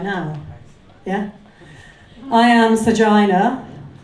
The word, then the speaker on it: Sergina: now yeah I am sergina rhymes with vagina goes quite well after